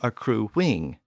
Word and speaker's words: accruing: And a word like accrue has a U sound at the end, but if we put an I-N-G at the end of the word, it tends to become accruing with a W sound.